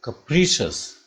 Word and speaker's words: capricious: Capri, it will go like that, ka, then it will rise at p, capri, then it will go capricious.